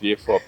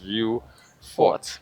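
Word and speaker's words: Vieux Fort: Yes. V4. People have anglicized the name a lot. Um and they spell it as it looks. View Fort even though they actually anglicize.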